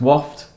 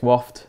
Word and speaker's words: Wofte: do you pronounce it so it's waft um silent e gets called everything really gets called multitude of different different names certainly heard some variety of pronunciation yeah definitely um so yeah it's waft it's uh acronym for